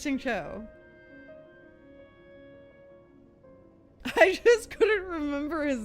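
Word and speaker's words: Xingqiu: remember his name therefore it's not helpful it's Shing Cho it's Shing Cho I just couldn't remember his name not his pronunciation of his name I couldn't remember his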